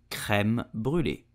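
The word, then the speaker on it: crème brûlée: sure you know it so how do you pronounce it in French correctly you would say creme brulee did you know that the earliest known recipe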